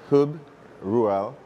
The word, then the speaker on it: Huub Ruel: hoob rural I have a challenge with getting names correctly so forgive me did I pronounce it okay okay perfect great welcome welcome